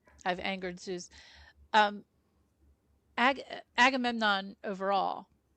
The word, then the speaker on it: Agamemnon: and uh Safy's charact Oh, well Safy playing Agamemnon.